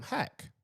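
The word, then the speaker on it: haqq: faith they say um hack which is truth. So they say which is spelled h a QQ in in the way that you would look at it and see it but it means hack.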